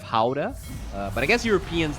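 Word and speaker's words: Gouda: oh okay okay asz most people say guda cheese instead of Howa uh but I guess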